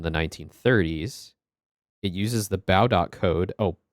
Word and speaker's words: Baudot: It uses the Baudot code. Oh, Baudot. Okay, so the T is silent. Baudot, which is where the term baud comes from.